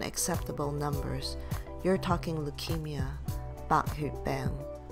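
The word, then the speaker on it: 白血病: numbers, you're talking leukemia, Bak Hu Beng, Bai Xue Bing. Notice there's three different pinyin versions for the Mando way of saying leukemia, where the blood part can be heard as xue, xue, xie.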